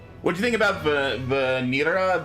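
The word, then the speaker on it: Vanille: What do you think about Vanira? Vanilla. I don't know. I think it's Vanil is how it's pronounced in English.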